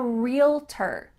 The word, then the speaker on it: realtor: category is i'm a realtor real ter it sounds like just real plus t-e-r but it's not spelled like that i'm a realtor or